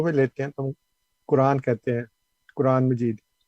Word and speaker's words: قرآن: لیتے ہیں تو ہم قرآن کہتے ہیں، قرآن مجید۔ یہ اصل میں ہے قرآن، تو رے ساکن ہے اور پھر الف مد ہے، الف مد آ، قرآن۔ تو یہ قرآن غلط